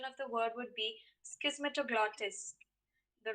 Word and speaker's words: Schismatoglottis: the right pronunciation of the word would be schismetroglottis the right pronunciation of the given word would be schismetaplotis